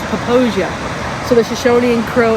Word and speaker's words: Popo Agie: of the waters, so it's pronounced Poposia, not Popo Agie.